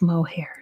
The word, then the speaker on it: Moher: It's the cliffs of Moher, which many Irish people on my video said I said it wrong. But whenever I try to look up how to pronounce it, at least in American English, it's pronounced the cliffs of Moher. So I'm just going to go with that.